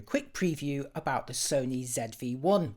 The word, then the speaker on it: ZV-1: about the Sony ZV-1, or if you live in the USA, the Sony ZV-1. ZV rhymes with TV, that actually sounds a bit better, doesn't it? But I'm sticking with ZV-1 here because I'm British.